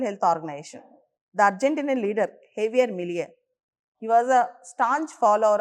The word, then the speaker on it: Javier Milei: Donald Trump and Argentinian President Javier Milei, we should pronounce him as Javier Milei, both are close allies.